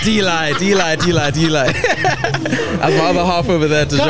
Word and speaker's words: D'Eli: And you pronounce it Delhi. No, you pronounce it D'Eli.